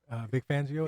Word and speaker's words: Vic Fangio: I mean, and so staying along those lines, and then you got your boy Vic Fangio. Is that how you say his name? Yeah. Vic Fangio.